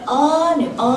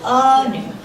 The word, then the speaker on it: Anu: I go by Anu for short. Anu. Anu. Anu? No. Anu. Anu? No. Anu. Like you're thinking. On the first syllable. Anu.